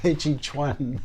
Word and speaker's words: Tai Chi Chuan: I teach one okay that Tai Chi Chun chi chuan chuan oh okay I'm sorry I mispronounced it so how did you get started